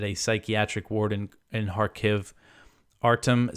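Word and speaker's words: Kharkiv: har I double checked you know the Ukrainian pronunciation and harv uh seems to be it um you know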